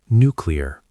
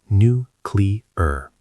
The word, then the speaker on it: nuclear: Nuclear, pronounced nuclear, not nuclear.